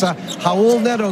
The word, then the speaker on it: Raul Neto: That's Raul Neto, guys, and we may as well pronounce it right off the bat. You don't pronounce the R.